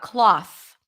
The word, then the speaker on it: cloth: question cloth about cloth cloth like a piece of cloth then here we pronounce it with a different vowel sound uh and we are not going to drop the th cloths okay we're not going to say cloth so here it's an open a sound cloth a piece of cloth versus clothes that's a long o as in go good the next tip